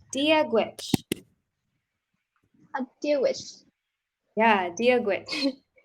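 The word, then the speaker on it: Dia dhuit: So you say dia gwich. Deal with, Yeah, dia gwich. deal with, Great. And it's spelled like this.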